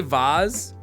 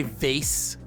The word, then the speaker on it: vase: game is that not how you say Vaz how do you say do you say vase a vase but it would it doesn't make